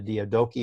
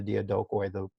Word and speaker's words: Diadochi: think of the 4, the Diadochi or the Diadokoi, depending on how you pronounce it, his generals take over and rule.